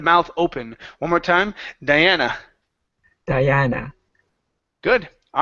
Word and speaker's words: Diana: word Diana okay so remember the UH sound at the end of a word needs to be up instead of her okay here you said Diana okay instead of Diana its Diana Diana there you go yep